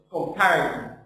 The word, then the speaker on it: comparison: let's say, S here, they said S between two vowels, it's Z. So it's comparison. This is wrong. No. Because S here is between two vowels, it's S. Between two vowels here, it's Z, it's position.